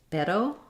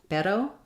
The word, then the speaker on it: pero: letter r for example the Spanish word pero pero that letter r is also the same flap sound so if you are